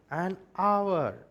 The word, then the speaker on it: hour: So it's going to be an air, H is silent, an hour, H is silent, an honorable man, H again is silent.